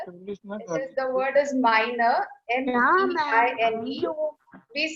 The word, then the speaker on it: meine: And when it is I-E, we say Liebe.